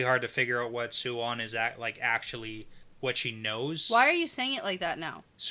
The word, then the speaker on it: Siuan: Well, it's Siuan, but I say it fast, so it's Swan. You're confusing me with your pronunciation. You can say Swan. Yeah, that's what I do say. Yeah, but if you slow it down, it's Siuan.